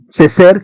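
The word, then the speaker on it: Césaire: Aés Ceser, perdón, no sé francés, pero una vez escuché alguien en una conferencia y así se pronuncia el apellido, Ceser, que lo tuvimos en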